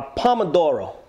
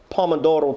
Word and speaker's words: pomodoro: Now, we have a pomodoro.